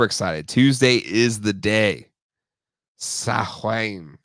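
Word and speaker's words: Samhain: Sahwain. You're right. But I think they pronounced him Sam Hain on the real Ghostbusters.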